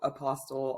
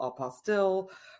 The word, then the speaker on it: apostille: asked pretty often so I always joke you know tomato tomato Apostle apostille but in all honesty